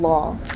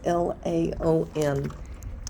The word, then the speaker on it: Laon: So now we are in Law. That's the best pronunciation I can have. It's Laon. It's kind of like lawn, but not quite.